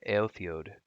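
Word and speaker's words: Éothéod: to pronounce that correctly altheode is how it's pronounced I believe Ayo the young was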